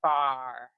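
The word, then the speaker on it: barre: say it again booty bar love it booty bar what's what's booty bar all about so bar is spelled of course b a r r e like your ballet bar and it's by Tracy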